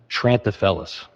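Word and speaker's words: Treantafeles: How do you pronounce that? Tranthalis.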